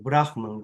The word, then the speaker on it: Brahman: En vez de tener la palabra real que Krishna pronunció, que es Brahman, o Brahman, como pronuncia Marcos.